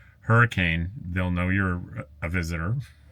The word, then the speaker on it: Hurricane: Now, they're out of Hurricane, Utah, and it's spelled hurricane, but if you go there and say hurricane, they'll know you're a visitor, because the locals pronounce it hurricane.